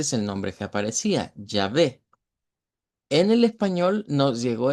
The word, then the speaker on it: Yahvé: nombre que, de acuerdo al hebreo, sería como Yahvé. Ese es el nombre, digamos, de Dios ya adaptado en estos pasajes. Entonces, en las Biblias, digámoslo originalmente, ese es el nombre que aparecía, Yahvé.